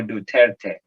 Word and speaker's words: Duterte: Rodrigo Duterte. Am I pronouncing his name right?